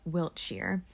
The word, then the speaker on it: Wiltshire: am a dumb American who pronounced all these British towns ending in SHIRE as Shire when they really should be pronounced like Wiltshire.